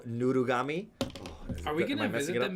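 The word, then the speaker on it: ぬいぐるみ: Oh yeah, nuigurumi is how you say stuffed animal in Japanese.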